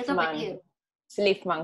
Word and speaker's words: Szlifman: Slifman, como si no tuviese Z.